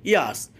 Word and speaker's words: years: এখানে ইয়ার্স, এখানে দেখেন আরের উচ্চারণটা হবে না, কারণ আরের পরে আছে এস, এস হচ্ছে কনসোনেন্ট, তাই আরের উচ্চারণটা হবে না।